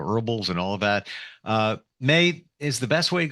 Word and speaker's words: Mai: It's MAI. It May as the month of May, but it's spelled MAI.